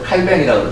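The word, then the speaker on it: Calvin: 칼빈만 해도 칼뱅이라고 그러죠. 요즘은 이제 원산지 발음을 해가지고.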